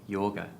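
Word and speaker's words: Jóga: that i've chosen york j-o-g-a yoga yoga we think that's what is how it's pronounced but um she's she's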